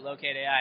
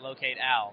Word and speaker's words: Locate AI: I'm glad you pronounced it Locate AI and not Locate Al, which sometimes happens.